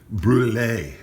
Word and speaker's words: brûlée: Brûlée is how they say it in French. Brûlée, it's French for burned.